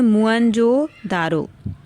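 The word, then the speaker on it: मोहनजोदड़ो: मोहनजोदारो शब्द का सही उच्चारण है मुअनजोदारो।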